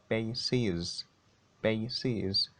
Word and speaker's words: bases: next example basis basis basis the plural is bases bases faces so you've got to be careful so